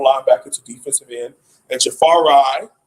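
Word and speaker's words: Jahfari: to defensive end and jafar rai that's how you're supposed to pronounce his name jafar rai harvey on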